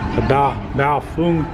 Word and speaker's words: Baofeng: Just a question, like the mini Baofeng or Baofeng, as it's properly pronounced, or this Yaesu 4X, FT4X is a good little radio to have too.